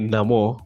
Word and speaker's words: Namor: what we're calling it Namo but this sounds very weird because like we're always calling it Neymar Nemo and yeah but that that's how they pronounce so it's no more that's what he said so it's number and